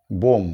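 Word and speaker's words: bomb: এটিও M autumn hyphen বোম বি ও এমবি শেষে bitter উচ্চারণ হবে না বোম হবে না উচ্চারণ হবে বোম শেষে বি থাকলে সেগুলো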